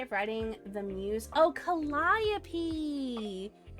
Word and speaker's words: Calliope: Oh, Calliope. So you would pronounce the latter part like you would the end of the name Penelope.